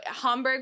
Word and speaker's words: Hamburg: So Hamburg, when you keep saying that, I want to say Hamburg. You do, because that's how it's spelled, so it makes sense. But Hamburg, you have to like Hamburg. Hamburg. You have to like sound like you have a like respiratory problem when you say it.